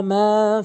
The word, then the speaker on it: من: ওয়া মা ফিল আরদ من ذا الذي يشفع عنده إلا بإذنه। এখানে ৪টি ভুল করে থাকে। একটি হচ্ছে মান বলে, মান বলা যাবে না, মাং বলতে হবে, নাকের ভিতরে নিতে হবে।